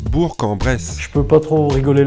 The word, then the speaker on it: Bourg-en-Bresse: Et oui, il faut bien penser à prononcer Le K. Qui est à la fin, qui n'existe pas. Ça se prononce Bourg-en-Bresse.